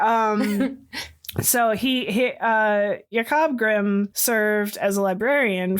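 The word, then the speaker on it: Jakob: And Yakob and and I'm pronouncing his name in the German the way they would have pronounced it. It's Jacob in our English telling, but it's Yakob Grim in German.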